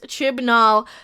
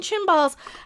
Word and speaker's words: Chibnall: And yes, I am not a fan of the modern day Chris Chibnall. Hey, I said it right without saying chimballs.